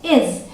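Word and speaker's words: is: ठीक है, अब अगला है आई एस, इसे हम प्रोनाउंस करते हैं इज। ध्यान रखिएगा ज के नीचे बिंदी है, क्या बोलेंगे? ज, इज। इसे हम इज नहीं बोलेंगे। ठीक है, इसे हम बोलेंगे इज।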